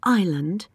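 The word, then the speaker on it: island: hear an s in ireland can you hear a k in no can you hear a p in cupboard no i can't no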